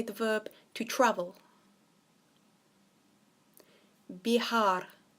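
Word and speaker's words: viajar: the verb to travel be hard so remember the v is some pronounce of a B and the J is a H be hard now what I want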